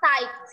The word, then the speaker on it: tight: Jadi cara bacanya ini GH-nya nggak dibaca, coba teman-teman. Ini GH-nya jangan dibaca. Jadi bacanya adalah 8, night, sama tight.